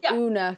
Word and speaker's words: Oona: They pronounce it Oona because of the double O. So you get called Oona quite a lot, and it's Oona.